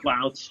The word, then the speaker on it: Plouts: Yeah, it's Plouts, rhymes with shouts.